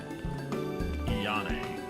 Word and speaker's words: Ayane: Yane. That's how you say it.